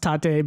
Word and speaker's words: tate: And the editor's note is, I know it's pronounced tate, but puns are hard, y'all.